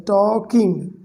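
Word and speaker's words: talking: और यहाँ पर L साइलेंट है, टॉकिंग, ओके।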